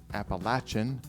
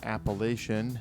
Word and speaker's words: Appalachian: French and Appalachian Oak staves and yes it's pronounced Appalachian uh not Appalachian if you if you say Appalachian then we'll